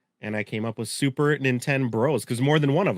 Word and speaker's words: Super Nin10Bros: I hope the only thing is I hope you can pronounce it and you get what I'm going for. Super Nintendo, Super Nin10Bros.